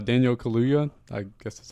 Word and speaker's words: Daniel Kaluuya: My number 4, Daniel Kaluuya.